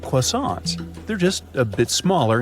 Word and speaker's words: croissant: They have a full range of yummy breads and buns, and yup, they got that croissant thing that most people can't pronounce right.